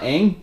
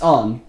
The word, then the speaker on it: Aang: It's not Aang, it's Ung. In fact, fans of the